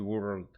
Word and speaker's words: world: It comes with an L in the middle. It's not the word W-O-R-D. It is world.